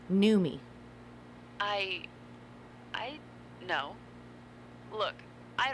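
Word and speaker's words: Noomi: me what my name it's pronounced new me i i no look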